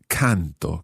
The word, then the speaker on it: canto: Just watch the stress of canto, canti, canta. The stress on the first syllable there.